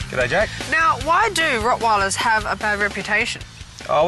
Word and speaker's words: Rottweiler: they do had absolutely is it pronounced Rottweiler or Rottweiler the Germans say Rottweiler I say Rottweiler okay and do Rottweilers